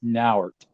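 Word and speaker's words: Nauert: figured ours n-a-u-e-r-t is now art well Sean that doesn't Sean that doesn't go my theme when someone says how do you pronounce his name I said it rhymes with fart yeah so guys for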